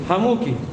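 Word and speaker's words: حموك: satu asmaul khamsah adalah hamuki. Huwa bikasril kafi. Cara bacanya kata beliau dengan dikasroh kafnya.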